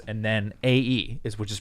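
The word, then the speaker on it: Æ: want to kill them AE is pronounced like ash so it's like I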